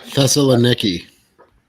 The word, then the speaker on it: Thessaloniki: I can't pronounce it. I'm sorry. Thessaloniki.